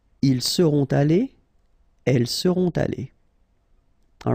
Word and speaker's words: allées: You don't pronounce it, but still you need to put it. Okay? Elles seront allées.